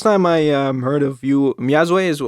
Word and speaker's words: Myazwe: So how's, the first time I heard of you, Myazwe is how you pronounce the name?